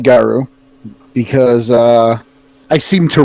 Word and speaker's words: guru: okay a lot you you'll hear a lot of people say guru geru and and porter you pronounce it gauru why i pronounce it garu because uh i seem